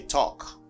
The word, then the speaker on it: talk: a video on that do not pronounce l you see in this word okay talk walk i